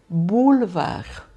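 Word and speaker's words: boulevard: Eu vou ler aqui, olha, bulvar. Bulvar, na realidade, só tô pronunciando o L, né, que tem que ser bem pronunciado, tá?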